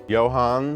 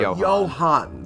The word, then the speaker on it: Johann: Johans, is that how you say it? Gutenberg. Johann. Singular. Johann, silent The S. S and the Steve are silent.